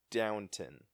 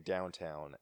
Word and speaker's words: Downton Abbey: me and saying it no it's Downton and that's like how it's spelled oh yeah it is oh I'm sorry yeah cuz I keep saying downtown yeah it's do WN